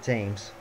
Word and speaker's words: Timms: but no it is it is more like teams or teams or however